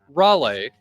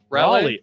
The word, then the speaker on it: Raleigh: H show Otani hit his 47th and 48th homers yesterday as the Dodgers got a muchneeded win while Cal Raleigh Raleigh Raleigh I know I know I I